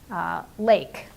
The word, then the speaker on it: lake: for example something like Lake Lake and I would say and it turns out there's a silent letter on the end it's an e so they just stick